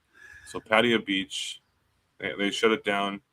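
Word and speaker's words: Pattaya: So, Patia Beach, they shut it down. It's called Walking Street. Patea Beach is how they pronounce it.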